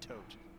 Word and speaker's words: Thoth: straight into the discussion it should be pronounced thoth or potentially tote but really yeah so